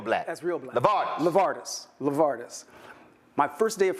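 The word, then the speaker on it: LeVardis: in a name my name in full is lavardis l v a r d i s Burton I have a black name yeah that's that's that's real black that's real black lard lavardis lavardis my first day of first grade Holy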